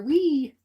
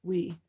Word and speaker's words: oui: Or "We." It's O U I, but I think you pronounce it "We."